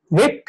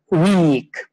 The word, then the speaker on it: wick: Now be careful, because here it is a wick, it's a short sound, it's not a weak.